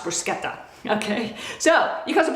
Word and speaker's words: bruschetta: I know people in this country pronounce that bruschetta, but I grew up with a father who was born and raised in Italy, and it's pronounced bruschetta.